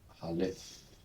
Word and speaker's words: Aleph: Now, the Hebrew name, where the first is Aleph. Aleph. So, this pronunciation, this is seen as a silent letter in biblical Hebrew.